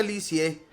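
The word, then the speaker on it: Lisieux: a un pueblo llamado liux se pronuncia licie por eso la llamarán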